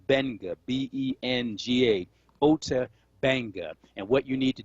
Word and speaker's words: Ota Benga: If folks want more information about the story of Ota Benga, the name is spelled O-T-A, last name Benga, B-E-N-G-A, Ota Benga.